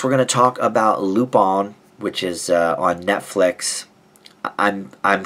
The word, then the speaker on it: Lupin: But I believe it should be, because it's French, I believe it should be pronounced Lupin.